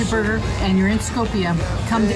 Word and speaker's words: Skopje: It looks like Skopje, but it's pronounced Skopje or something very similar to that.